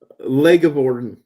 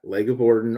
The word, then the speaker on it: LeGivorden: the way or leg of Bon uh I usually go yeah leg of Bon or if you have trouble pronouncing it you can just call me leggy or or whatever